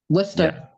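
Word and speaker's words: Worcester: You can tell if someone is from New England if they say Worster versus Warsister or something like that. Worster Museum Art. Oh, sorry. Worster. Yeah, you had the even better pronunciation.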